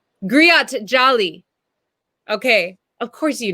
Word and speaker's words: griot: I hope I don't say the name wrong, but I think it's called Giro Jali. Griot. Griot Jali.